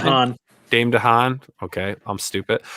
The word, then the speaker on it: DeHaan: Yeah, and I have to say that the character Jim Dooley, played by Dane DeHaan, I think is how you pronounce Dane last name? DeHaan.